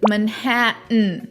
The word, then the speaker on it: Manhattan: Mountain, certain, important, Manhattan, button.